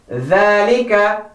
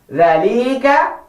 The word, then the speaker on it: ذَلِكَ: The first word here is ذَلِكَ. In this word, we have to be very careful not to stretch the la. ذَلِكَ Wrong, because it's so sad.